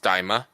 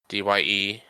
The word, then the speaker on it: Daima: According to Google, it's pronounced Daima, Dyemah, Daima.